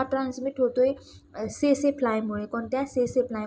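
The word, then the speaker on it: tsetse: तर हा ट्रान्समिट होतोय सेसे फ्लायमुळे. कोणत्या? सेसे फ्लाय. म्हणजे TSE या त्याचं स्पेलिंग आहे सेसे फ्लाय.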